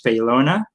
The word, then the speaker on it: Faylona: uh right for short but my last miss feylona um i'm from the philippines originally i've been